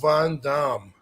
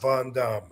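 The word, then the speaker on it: Van Dam: wrong all this time actually the real answer to that yes seriously the name that I was given was Rob Von Dum what y believe it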